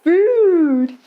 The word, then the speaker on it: food: Wa, so much good food. Even though there are two O's in good food, they're pronounced differently. In olden times, these words